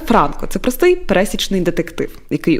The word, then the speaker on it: Франко: Дуже важливо поставити правильно наголос. Я вже не раз це писала, тому що це не Іван Якович і не полководець. Це Франко.